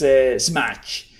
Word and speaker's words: SMACH: I pronounce it in Spanish way, but it's SMACH.